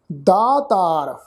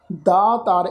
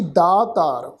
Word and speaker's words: ਦਾਤਾਰ: ਪ੍ਰਭ ਦਾਤੋ ਦਾਤਾਰ, ਪ੍ਰਭ ਦਾਤੋ ਦਾਤਾਰ, ਦੱਦੇ ਨੂੰ ਕੰਨਾ ਤੱਤੇ ਨੂੰ ਕੰਨਾ ਫਿਰ ਆਰਾ ਅੱਖਰ। ਦਾਤਾਰ, ਇਹਨੂੰ ਦਤਾਰ ਨਹੀਂ ਬਣਨਾ, दते नूं कन्ने दी मात्रा लगा के पाठ उच्चारण करांगे जी। दातार, प्रभ दातो दातार परियो,